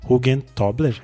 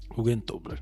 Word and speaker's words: Hugentobler: Expedidor e a identidade visual assinada pela Alice Hugentobler. É assim que se pronuncia o sobrenome dela, gente? Hugentobler, ok.